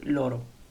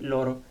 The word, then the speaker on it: loro: Y tenemos el pronombre ellos, ellas, que en italiano se dice loro.